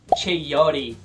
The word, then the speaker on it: chayote: Chuchu, em inglês é chayote.